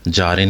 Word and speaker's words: Jardin: जारिन कह लें या जॉरिन कह लें, बहुत लोग इसे जॉर्डन पढ़ते हैं, लेकिन टू be very honest it's अ जारिन, JARDIN। एंड शायद प्रोनाउंसिएशन इन फ्रेंच और something it would be अ जॉर्डन, बट I would say जारिन।